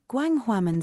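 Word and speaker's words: Gwanghwamun: Jarvis is about to pronounce this correctly. Gwanghwaman Square.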